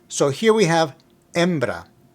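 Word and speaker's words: hembra: Baron embra means female remember the H in Spanish is silent so here we have embra embra now we just learned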